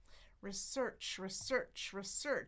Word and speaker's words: research: Research, or research, if you like. That one's kind of tough because there's so many possibilities there, but the method is the same, right?